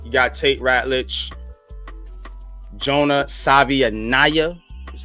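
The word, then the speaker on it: Savaiinaea: You got Tate Ratledge, Jonah Savianaya is how he pronounced it.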